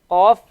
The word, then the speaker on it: ق: Again, qaf, you have to go further down your throat to pronounce the qaf.